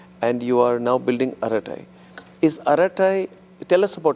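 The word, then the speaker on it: Arattai: out and we have we What is Aratai?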